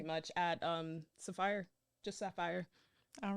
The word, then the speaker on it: Saphyre: And now I'll pronounce it sapphire to make it slightly different.